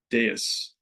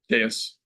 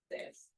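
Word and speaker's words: dais: jumped onto the high is it pronounced das? I don't know what that is. I'll look at it. It's like a raised platform. Deas. They're both They're both They're both valid. It's a raised platform. D A Y uh S. How do you pronounce it? Deis. Deis.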